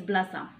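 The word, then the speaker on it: بلاصة: For example, to say so place in Darija is blasa. So blasa ending with A. Okay, so this A is a ta marbuta actually in ta the silent T in the Arabic scripts.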